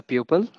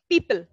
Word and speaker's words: people: It's a pupil. No, people. People, okay. Yes, People.